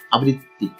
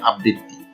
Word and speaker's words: আবৃত্তি: এর সঠিক উচ্চারণ হচ্ছে আবৃত্তি। আবৃত্তি। আবৃত্তি। এখানে বটা দিতে হবে না, অনেকে বটা দিত্য করে উচ্চারণ করে, বলে আবৃত্তি, কিন্তু আসলে সঠিক উচ্চারণ হচ্ছে আবৃত্তি।